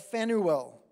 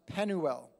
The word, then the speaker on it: Phanuel: It says, there was a prophetess, Anna, the daughter of Phanuel. It's spelled with a P-H. I think probably it's pronounced Penuel. Of the tribe of Asher.